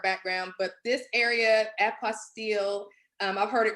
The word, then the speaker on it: apostille: probably have heard about and I may be pronouncing this incorrectly so forgive me if I am apostille is that yes yes well Annie is a